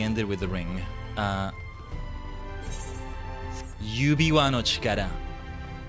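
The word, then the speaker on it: 指輪: Uh, Ubiwa. Ubiwa is how you say ring.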